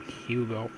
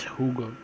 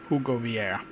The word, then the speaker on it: Hugo: Hugo Vieira and yes I know I was pronouncing his name Hugo it's Hugo hug go and the final goal